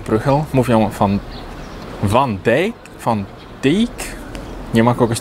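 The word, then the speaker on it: Bruegel: Na przykład mówią Brugel, a nie ma Brugla, jest Bruchel.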